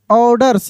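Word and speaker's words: orders: Grace जी आर एस सी ई grace ऑर्डर्स ओ आर डी ई आर ऑर्डर्स यहां पे are silent रहता है।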